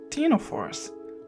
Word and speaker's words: ctenophores: They're called ctenophores with a silent C, or comb jellies.